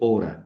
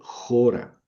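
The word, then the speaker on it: ὥρα: Yo voy a leer jora. Ahí no dice ora, dice jora, porque jora, jora.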